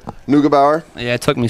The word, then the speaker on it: Neugebauer: Neugebauer?